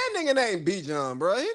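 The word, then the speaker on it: Bijan: is Be John is if your name is spelled I J A N, your name is Be John. Even if your mama wanted you to be, everybody calls you.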